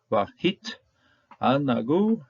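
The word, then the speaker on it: וְהִתְעַנְּגוּ: There is a metech right here, which just simply tells us make sure you pronounce this first syllable separately from the next from the rest of it. So vahit anagu, and then they will delight.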